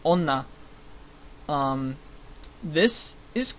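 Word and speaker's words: 女: is the symbol that means woman it is pronounced Ona um this is C and hiragana this is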